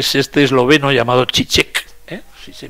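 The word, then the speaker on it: Žižek: y conoceréis que se este esloveno ha llamado chi chi que se pronuncia así que ha renovado la crítica cultura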